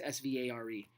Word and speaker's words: Svare: I don't even know how to say his name. It's Svare.